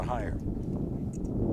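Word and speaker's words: Heyer: Nice pitch by Samantha Higher. H-E-Y-E-R is how she spells her name, but pronounced higher, like going higher.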